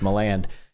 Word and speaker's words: Milan: by the way everybody if you never want to know how to pronounce it it's my land uh we did demio